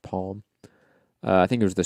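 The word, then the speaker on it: Palme: look up the name olaf palm or plume it's pronounced palm i think it was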